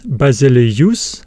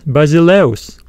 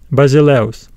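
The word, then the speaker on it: βασιλεύς: but we do not pronounce this word as basileus basileus no we pronounce it as basileos basileos another example is the word paos we have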